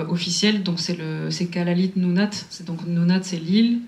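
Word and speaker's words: Kalaallit Nunaat: mais le nom officiel donc c'est le c'est Kalalite Nounat c'est donc Nounat c'est l'île et donc Kalal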